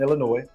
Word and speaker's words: Illinois: I do not pronounce the S in Illinois. It is Illinois, not Illinois.